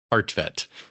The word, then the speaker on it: Kartvedt: Kartvedt. It looks horribly misspelt. It's Kartvedt, but phonetically it's Kartvedt is the right way to say it.